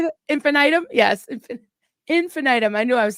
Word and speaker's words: infinitum: Yes, infinitum.